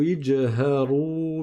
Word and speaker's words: اجْهَرُوا: Deuxièmement, donc وَأَسِرُّوا قَوْلَكُمْ أَوْ اجْهَرُوا بِهِ. Le alif ici, on ne le prononce pas puisqu'il y a le petit dessin en haut qui indique que c'est un alif de liaison.